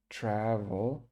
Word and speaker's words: travel: Okay, and travel. It's a pretty easy one. I don't know why lots of students get this one wrong. It's just kind of sometimes you don't pronounce the L on the end.